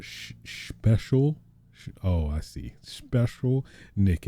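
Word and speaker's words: Shpeshal Nick: special oh i see special nick it's spelled like a s-h-p-e-s s-a-l special that's kind of cool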